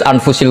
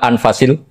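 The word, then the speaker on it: أنفس: saja di sini ditulis anfusil kutub su saya baca anfasil kutub karena maknanya kitab ter baik Kalau kitab terbaik bacanya bukan anfus tapi apa anfas ya nanti kamu debat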